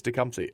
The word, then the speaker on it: Tecumseh: Tecumseh.